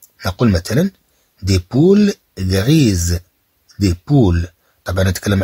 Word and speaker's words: poules: S ولكن عندما نقول des poules alors là on ajoute un S on ajoute un S إذا في هاد الحالة نضيف S mais qui ne se prononce pas والتي لا تنطق للدلالة